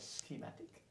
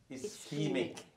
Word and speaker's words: ischemic: And did I get a pronunciation right? Schematic? Ischemic.